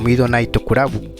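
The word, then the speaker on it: ミッドナイトクラブ: El Menai Club pronunciado en japonés como Mido Naokurabu fue un grupo de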